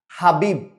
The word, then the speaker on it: হাবিব: না, হাবিব, বতে কোনো অ উচ্চারণ হচ্ছে না।